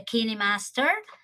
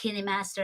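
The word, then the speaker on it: KineMaster: I use actually the kidney Master yeah it's pronounced candy Master actually I Googled that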